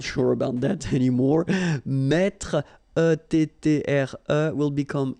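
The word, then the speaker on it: mets: the last I'm not sure about that anymore met will become e s me same advice here don't pronounced the final s like we had here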